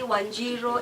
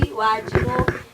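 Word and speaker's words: Wanjiru: There's nothing like Wamboi, Wanjiro, it's Waboy, Wajiro. That's how it's supposed to be said, because it is Kikuyu or whichever culture you are in.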